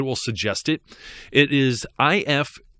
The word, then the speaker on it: IFTTT: It is IFTTT. IFTTT.